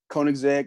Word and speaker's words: Koenigsegg: And then a car that I would want for a dream car, Koenigsegg Agera.